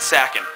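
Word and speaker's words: Sakon: Some people pronounce it Seiken, some people pronounce it Sakin.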